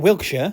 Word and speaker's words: Wiltshire: Is it Wiltshire, isn't it? Yeah. Not Wiltshire. Wiltshire. Wilt. You don't overpronounce it.